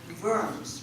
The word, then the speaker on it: Worms: else did russia live worms right it's spelled like worms but we pronounce it in german the w is a v so my mother grew